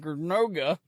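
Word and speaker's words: Ticonderoga: Tyonderoga. Tyonderoga, was it a British state dinner where they stuck George Washington's portrait in the outhouse to mess with him?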